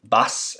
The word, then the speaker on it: bas: The bass is, that's why it shows how important, bass is your palm of your hand.